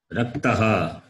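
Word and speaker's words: रक्तः: Can you read? Rakta. Raktaha. What is that? Raktaha. Okay, raktaha. Yeah.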